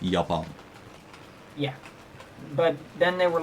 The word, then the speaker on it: Japan: why in English God Japan in Dutch is written exactly the same and it's pronounced yapa yeah but then they